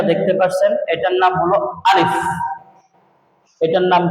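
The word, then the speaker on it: ألف: এই যে প্রথমে এটা দেখতে পাচ্ছেন, এটার নাম হলো আলিফ। এটার নাম কি? আলিফ। আলিফ, আলিফ, আলিফ, আলিফ।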